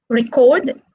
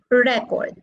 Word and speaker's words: record: first syllable like example record record record is stressed on the second syllable record is stressed on the first syllable so when we change